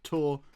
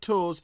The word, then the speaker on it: Tours: established that tour and I have been told it's pronounced tour not tours is quite far from